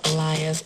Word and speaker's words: Aaliyah: I used to get a lot of Aaliyahs. It's Aaliyah. Aaliyah.